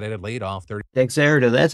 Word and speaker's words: Dexerto: Dexerto, that's how you pronounce it, guys.